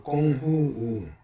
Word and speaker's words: 工夫: 공부는 중국어로 꽁후우 발음하며 영어로는 to study로 번역되지만 사실 뭐뭐 단련을 일컫는 말이다.